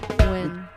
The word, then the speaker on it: Nguyen: I had this coffee called Win Coffee this morning. Win. Yeah, but it's Nguyen.